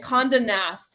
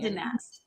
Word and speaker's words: Condé Nast: It's Elle Digital, which is like so awesome that you were able to pronounce that. And Condé Nast is the magazine. Condé Nast.